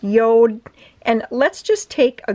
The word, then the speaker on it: Jord: share with you that it is not pronounced Jord, it is pronounced Yode. So I don't know the language that is, but anyways, it is pronounced Yode.